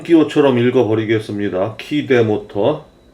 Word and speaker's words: Keyde: 이 제조사 여직원한테 물어보니까 뭐 키드 이렇게 발음한다 그러는데 우리는 그냥 발음 기호처럼 읽어버리겠습니다. 키대 모터.